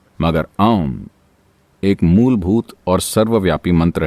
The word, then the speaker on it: ॐ: आम मंत्र में 3 आवाजें हैं, आ, ऊ और म। ये आ, ऊ और म जब आप इसका उच्चारण करते हैं तो उन्हें लगभग बराबर होना चाहिए और आपको नाभि के